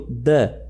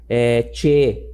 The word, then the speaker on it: the: Aqui, ó, eu digo the e não che, tá? Ele tem som de D.